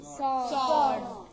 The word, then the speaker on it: sword: Sword. Sword. S-W-O-R. Okay. Thus we are coming to know something about our silent letters in English.